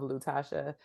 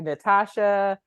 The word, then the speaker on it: Lutasha: I had an ethnic name that I feel like it's spelled exactly how it sounds, but people will look at it and be like Natasha, Letitia, Latusha. And I'm just like, there's not even an N in the whole.